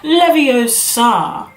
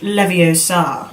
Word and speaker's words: Leviosa: just saying it wrong it's Leviosa not Leviosa it's not really what